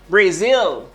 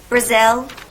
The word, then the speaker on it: Brazil: Brazil. Brazil. Brazil. Moi te accentué sous zil. Zil. Voilà, on pas dire Brazil. Si vous dites Brazil, non, c'est pas Brazil.